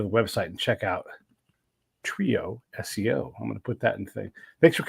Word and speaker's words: TrioSEO: bit about um now is it trioo SEO or trioo how do you how do you say it it's a trio SEO we focus on SEO